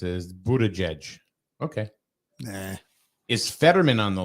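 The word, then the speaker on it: Buttigieg: Kanye nah uh Victoria says the how you pronounce it is Buddha judge okay is fetterman on the list I did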